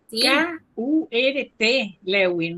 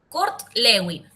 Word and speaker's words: Kurt Lewin: K U R T. Lewin, no, Kurt Lewin.